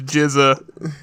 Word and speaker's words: GZA: of that beat i'm Frisia oh so it's pronounced jizz I've been listening to a lot of wu-tang clan that but on Pandora I see and I see the GZA I don't like Giza no no it's GZA risen jeredy fair enough but it's awesome music